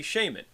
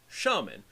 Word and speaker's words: shaman: you pronounce it well the proper british pronunciation would be shamanism and the practitioner of shamanism would be the shaman now in american english there is another accepted pronunciation shaman so a shaman would be a practitioner of shamanism both the american and english conventions are technically acceptable pronunciations so one could say either shamanism or shamanism shaman or shaman however in academic circles you